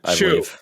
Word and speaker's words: Hsu: Real quick, a series starring, is it Stephanie Shu? Who? HSU. How do you pronounce that? You've seen her in other stuff. Shu.